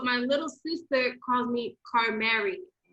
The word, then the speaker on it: Carmery: little sister calls me carl mary like she just says it did i i say car marie she calls me carl mary and i'm like is it is it wrong it's not how i pronounce it but i was like